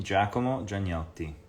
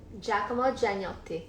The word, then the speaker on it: Giacomo Gianniotti: My name, how do you pronounce my name? Giacomo Gianniotti. Should have asked Nicole to pronounce my name. That would have been funny. Giacomo Gianniotti.